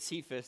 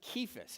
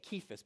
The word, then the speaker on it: Cephas: Now, by the way, uh we pronounce it Cephas. Does anybody know how it's actually pronounced? It's actually pronounced Kephas. It's a It's a harsh K. Kephas.